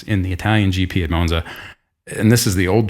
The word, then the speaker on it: Monza: God, I keep switching back and forth between something like a Italian person with Monza and Monza. Like, Monza. Americans say Monza.